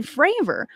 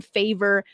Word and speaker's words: Fravor: which bless his heart all the congressmen were getting his last name wrong calling him favor freyr fayer and I'm like guys I I know might be a little bit nervous but consistently his name was being said wrong bless his heart but